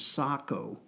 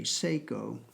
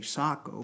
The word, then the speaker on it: Sako: the years I've learned uh the correct Finnish pronunciation is Sako not SEO like the watch uh whether you know how to pronounce it or not you'll run into more folks that say Seiko than those that say Sako because uh that's